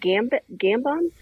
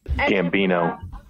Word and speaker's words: Gambon: Michael, is it Gambon? Steve, what is it? How do you say it? Gambino. Really? That's not right.